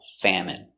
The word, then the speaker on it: famine: There is a famine in their country. Pronunciation famine f a fa m fam. It. Famine. M. Famine. Famine. Stress on the first syllable.